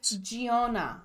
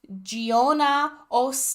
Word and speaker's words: Giona: and Sonia and Gio was it gaona gaona gaona I think I mispronounced his name at the beginning but it is Sonia bellova yeah and gona tinelli now that I have their